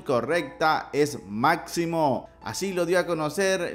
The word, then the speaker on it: Máximo: y es que muchos apuntaban que se llamaría massimo pero en realidad la pronunciación correcta es máximo así lo dio a conocer la propia luisa